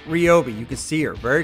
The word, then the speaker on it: Ryobi: Right here, she is telling us all, listen, yes, it is actually pronounced Ryobi, not Ryobi.